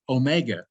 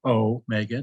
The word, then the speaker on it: omega: we have another letter omega for long o so omega should be pronounced o mega not omega and um omicron should